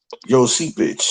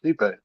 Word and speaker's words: Stipe: Joe Seepage or some shit like that. No, it's Stipe. Oh, Stipe. Stipe. That's how you pronounce it. It ain't spelled the way.